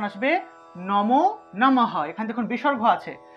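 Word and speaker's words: নমঃ: ইয় উচ্চারণ আসবে নমো নমহ এখানে দেখুন বিসর্গ আছে যেহেতু বিসর্গ আছে তাহলে পূর্ণরূপে হ উচ্চারণ হয় আমরা জানি বিসর্গ এর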